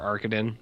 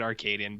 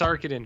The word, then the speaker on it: Arkadin: __ ] about mr arkadin and i'm not going to say it arcadian because i think that is horseshit you know what i